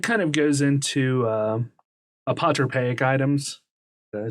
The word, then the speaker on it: apotropaic: that and that kind of goes into uh apotropaic items i say that right i had i